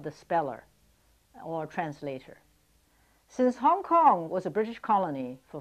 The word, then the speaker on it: Hong Kong: Hong Kong is spelled H-O-N-G-K-O-N-G because in Cantonese, Hong Kong is pronounced Hong Kong, but in Mandarin, the same two characters, Hong Kong or Hong Kong, is pronounced Xiang Gang.